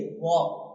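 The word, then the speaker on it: walk: देखो डब्ल्यू ए एल के लिखना स्पेलिंग यही है। वक लेकिन जो बोलना है वो क्या बोलना? वॉक वॉक वॉक लेकिन एल नहीं बोलना है।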